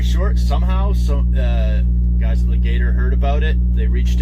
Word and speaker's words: Legator: what they do when you buy it from Legator. Legator. Sorry, I keep pronouncing that wrong.